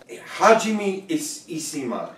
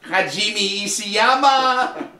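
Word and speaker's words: Hajime Isayama: happen either way Lois hajim isima hajim isama you got the second one right I got the first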